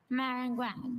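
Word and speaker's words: maringouin: Meringuin. Does this word have any alternate pronunciations? I have just the one, meringuin.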